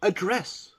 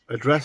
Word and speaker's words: address: And the meaning of the word can change with how the syllable is stressed. For example, that would be address. Well, you can address somebody, talk to them, address somebody in that way, or address. The address of somebody, the place of residence.